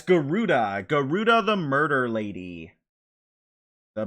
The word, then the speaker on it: Garuda: It's spelled Gajinka. Gajinka. Ashen Atlas. Um, it's Garuda.